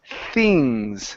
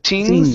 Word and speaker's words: things: Let's go to the word things. Okay, a TH sound instead of tings.